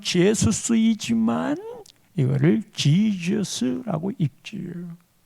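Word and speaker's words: Jesus: 영어로는 발음상으로는 제수스이지만 이거를 지저스라고 읽지요.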